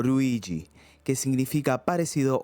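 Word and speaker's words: ルイージ: Luigi El hermano menor también de nombre italiano pero que en japonés se puede pronunciar como ruiji que significa parecido o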